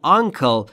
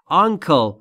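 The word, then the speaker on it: uncle: چیز دیگری بهش میگن آنکل و در مورد تلفظش باید دقت بکنید آنکل نیست انکل ک ما یعنی عموی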